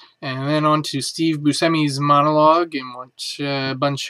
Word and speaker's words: Buscemi: Live, hosted by Steve Buscemi, or if you're using the appropriate Sicilian pronunciation, Steve Buscemi, with musical guest The Black Keys.